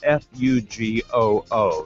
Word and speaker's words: Fugoo: It's spelled F-U-G-O-O, so let's call it Fugoo.